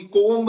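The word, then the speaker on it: comb: गंगा होता है वो सी ओ एम बी कोम नहीं होता है वो कोम होता है एम के बाद भी हमेशा साइलेंट रहता है और भी कोई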